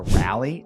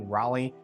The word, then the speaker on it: Raleigh: have you thought about moving to Rally or Durham North Carolina whoa if your realtor pronounces those cities like that you should probably fire them my name is